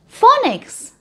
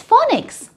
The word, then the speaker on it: phonics: Letter F कहता है फ, जैसे F से फैन और F से 5, मगर P और H जब मिलते हैं तो ये भी कहते हैं फ। जैसे कि फोनिक्स, PHONICS, फोनिक्स।